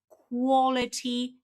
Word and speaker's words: quality: So, the stress is at the beginning.